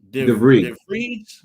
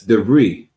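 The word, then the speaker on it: de Vries: Carrie Kski, Sarah, uh Deere. Is that how I pronounce it? Khan. You don't pronounce the S. The Khan. You said I don't pronounce the what? The S. Dere. Oh, Dere.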